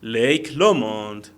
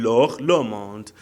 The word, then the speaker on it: Loch Lomond: Lake Lomond. De todos modos, en Escocia, siempre en Escocia, de todos modos, lo pronuncian Loch Lomond.